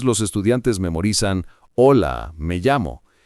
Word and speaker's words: llamo: La gente a veces dice me llamo, con una Y muy fuerte, o incluso me llamo, con sonido raro. En español, la doble L se pronuncia como una Y suave en muchos países. Me llamo.